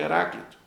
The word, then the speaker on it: Heráclito: Eles gostavam de nomes assim, com o próprio paroxítona, né? A terceira sílaba de trás para frente, que era a sílaba forte. Um tal de Heráclito, que tinha a noção completamente diferente.